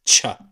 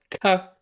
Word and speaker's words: ك: pronounced Ka and Kaf is pronounced Cha. Now, rarely it's pronounced Tsa, like a T and an S, but you can hear this in some parts of Saudi Arabia. But Ka is the official pronunciation, which you will hear the most.